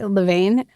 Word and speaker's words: Levain: In fact, my first brush with Levain was, which I've been pronouncing it wrong for a couple of years, by the way. Levain, not Levain. I've been saying Levain.